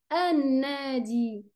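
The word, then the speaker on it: النادي: Alors là, je ne lis pas la lettre lem, je dis ar-rahim, an-nadi.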